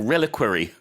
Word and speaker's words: reliquary: Even to pronounce it is difficult. 네, 뭐죠? Reliquary or reliquary.